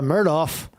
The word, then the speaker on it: Murdaugh: with the facts Alec Murdoch under cross-examination for a second day several times getting Alec Murdock now we got it right Murdoch two syllables syllables got the Alec Murdock